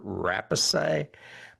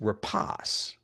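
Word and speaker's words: Rapace: I always used to call her rape, but apparent I looked it up and it's repos.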